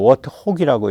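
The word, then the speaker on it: Warthog: 이거 워이라고 안 읽어요. 워트혹이라고 읽어요.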